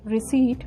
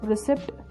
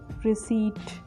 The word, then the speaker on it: receipt: So we call it receipt where P becomes silent, but if we are calling it like receipt, that becomes wrong pronunciation. So we call it receipt.